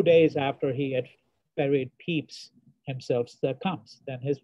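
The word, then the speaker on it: Samuel Pepys: well-known english writer samuel peeps the name is pronounced peeps but it's spelled p-e-p-y-s he leaves behind a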